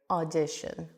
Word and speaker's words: audition: audition which is a similar sound of when you pronounce some country names for example Austria. I have the o a Austria or Australia. And then it's the same sound here. Audition.